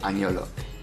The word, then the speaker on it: agnolotti: Se escribe agnolotti, pero la G en italiano se pronuncia como la ñ. Ah, entonces es un agnolotti.